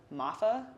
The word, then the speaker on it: Maffa: Because, like, speaking of, Michael Williams goes down with an ankle injury after an illegal hit by Mr. Maffa, is how you say his name, Maffa, yeah?